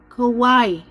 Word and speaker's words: Kauai: Kauai. Is that how you say it? W is pronounced as a V.